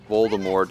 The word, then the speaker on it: Voldemort: Voldemort, fight from death. In Latin? Oh, in French? Or is it both? Ready to go? Absolutely. According to the author, the T is silent.